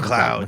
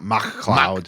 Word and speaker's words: McLeod: It's McLeod. McLeod. But it's McLeod, isn't it? Yeah, it's not McCloud.